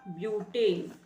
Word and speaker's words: ब्यूटेन: क्या बनता है ब्यूट ब्यूट स्पेलिंग बट है लेकिन साउंडिंग हमें ब्यूट करनी होगी ब्यूट ब्यूट सफिक्स लगेगा ए यानी क्या बनेगा नाम इसका ब्यूटेन ब्यूटेन अब यहां चार